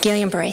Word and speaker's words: Guillain-Barré: a whole bunch of people got, I can't pronounce it right, Guillain-Barré syndrome. Guillain-Barré, thank you, sir.